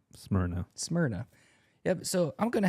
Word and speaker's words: Smyrna: Smyrna.